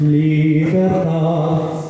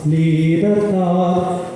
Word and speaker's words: libertad: B larga se pronuncia bilabial. Ambos labios.